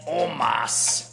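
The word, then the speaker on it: Omos: and the Nigerian giant Omas and um it's interesting that his his name is pronounced Omas because when you see a spell it looks like almost like it reminds me of Edward James Olmos you know what I'm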